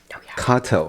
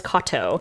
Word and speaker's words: Katow: But it's spelled Katow, which is why you were like Katow, because obviously that's how it's spelled. But it is similar to the name that's like Kato, common Japanese last name, Katow.